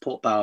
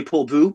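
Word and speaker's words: Portbou: I think it is pronounced Port Bow, apparently. Well, actually, I think the French would say Port Bou because it's OU.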